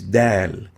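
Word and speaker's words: د: a lingual alveolar letter the name is dal as in dali dal dal pronounced and named dal dal next letter is dal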